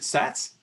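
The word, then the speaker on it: Szasz: of the hungarian psychologist is it sats psychiatrist so yeah psychiatrist yeah but thomas sorry yeah yeah sas as far as i know yeah fundamentally you know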